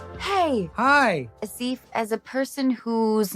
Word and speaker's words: Aasif: It's Aasif. Aasif. Yeah. Aasif. So it is the softer like Anna.